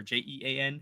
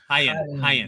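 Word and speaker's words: Jaén: Is that how you say that? Jaen, is that, or Jean? How do you say that in Spain? Hain.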